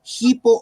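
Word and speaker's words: ὑπό: arriba la coma invertida Ese es el el espíritu áspero que suena como una jota ahí dice hipo o sea se pronunciaría con h no Hi hipo luego stos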